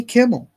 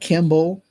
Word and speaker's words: Kimmel: And and you see it with major TV shows like Jimmy Kimmel, right? Did I say his name right that time? Kimmel, not Kimble.